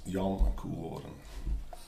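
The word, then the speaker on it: Jan: of course it's a literal translation into English but in Dutch it's pronounced Young we talked before sometimes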